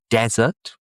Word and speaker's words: desert: the Atakama, the Gobi Desert. Stress at the beginning desert.